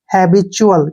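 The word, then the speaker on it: habitual: अब यहां पर देखिए जो टी यू का उच्चारण है वह हम च के रूप में करेंगे चू ठीक है ना और यहां पर ए का उच्चारण होगा और एल से ल ठीक है ना हैब चुअल क्या पढ़ेंगे इसको हैब चुअल बिचल क्या होता है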